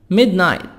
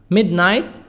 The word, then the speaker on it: midnight: midnight midnight gh silent midnight gh silent it's 12 a.m.